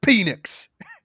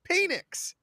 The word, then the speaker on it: Penix: Washington he's still having it's pronounced Phoenix okay I've heard it both ways Mike penix okay the man Man's